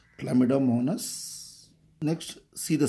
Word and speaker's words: Chlamydomonas: Chlamydomonas. That is the way you have to pronounce. Chlamydomonas.